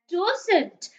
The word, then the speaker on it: doesn't: juicy and over here we've got the word doesn't doesn't so o isn't making o for toe in this word it's the word doesn't